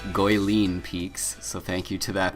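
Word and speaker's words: Guilin Peaks: uh right away you should notice that unlike goeleen peaks yes and apparently i was corrected i'm saying that wrong i was correcting in the comments of my last video it is in fact pronounced goyleen peaks so thank you to that person uh but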